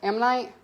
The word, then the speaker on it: ammonite: have the last how you how do you pronounce it am night yeah there you go i get my amazonite